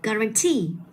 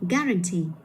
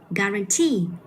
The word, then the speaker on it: guarantee: Hay là guarantee, chứ không phải là guarantee. Thì như vậy là không phải nhấn vào cái âm tiết số 3 rồi, mình phải đọc là guarantee.